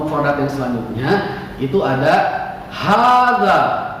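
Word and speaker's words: هذا: Kita lanjutkan ke kosakata yang berikutnya atau mufradat yang selanjutnya, itu ada hadza. Bapak ulangi lagi, hadza. Gitu bacanya ya.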